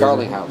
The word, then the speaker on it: Garlinghouse: Garlinghouse.